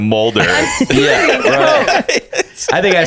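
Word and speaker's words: Mulder: it Edgar but then she says meller instead of Moulder yeah I think I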